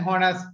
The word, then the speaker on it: honest: දැන් මේක සමහර කියන්නේ honest කියලා. honest කිව්වොත් ඇයි h අකුර silent. honest.